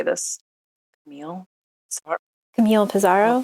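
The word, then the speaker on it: Pissarro: know how do you say this cam Camille pizaro pizaro yes blessed are they who see beautiful things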